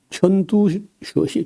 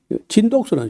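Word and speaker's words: 陳獨秀: 그래서 어 중국의 오사 어 운동을 일으켰던 사람이 천 천듀 천두슈 바람이 천두슈 천두수는 이제 우리 한자로 우리 읽기로 하면요 진독수라 진독수 진독수를 이제 중국 이름은 중국 발음은 턴두슈 그다음에 노신이라는 사람인데 루신 그래요.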